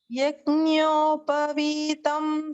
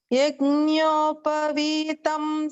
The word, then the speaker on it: Yajñopavitam: Yajñopavitam samarpayami. Yajñopavitam samarpayami. Good. And I heard your pronunciation of yajna. That's also a very challenging sound. Nya. It's like an yajna or jnana.